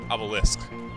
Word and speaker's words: obelisk: Yeah, Obelisk. Not Obelix. Obelix is the character, Obelisk is the pointy thing.